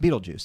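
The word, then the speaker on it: Betelgeuse: l g e u e is spelled is pronounced Beetlejuice and that is how the character's name is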